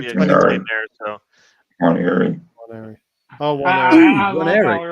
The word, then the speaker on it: Nwaneri: So either the N is sound or it's not. So still classified as Nwaneri. So it's something like what we explained there. So Nwaneri. Oh, Nwaneri.